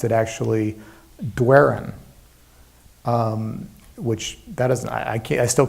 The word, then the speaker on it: Doiron: I pronounce my last name Doiron. Doiron. It's a French name, which, like many French names, was anglicized. And when I was a kid, my dad, whose first language was French, said, well, okay, the way that you're going to need to pronounce your name to people in Maine is Doiron, like do I run.